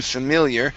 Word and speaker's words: familiar: Yeah, so when we get into familiar, we kind of peak that I, and that's what bumped this up to a long E sound.